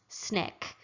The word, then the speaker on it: SNCC: Student Nonviolent Coordinating Committee shortened to SNCC however it is pronounced snick snick was open to